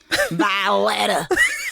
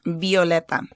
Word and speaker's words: Violeta: Because a lot of people don't know how to pronounce They're Violeta. Say Violeta. Violeta.